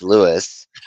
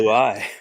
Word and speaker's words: Louis: So, first off, I gotta say, I'm really actually surprised that your dumbass didn't say Lewis, considering fucking the last time around with, Louis Armstrong. It's not spelled with an S, though.